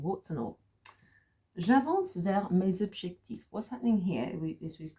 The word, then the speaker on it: mes objectifs: But because it's here, mes objectifs, there's a sort of z sound at the end, okay?